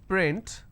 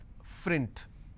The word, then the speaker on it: print: word which is print, lot of people pronounce this as frint. So that is where the mistake happens. Okay. There are some people who cannot pronounce the p sound, they replace that with the f sound.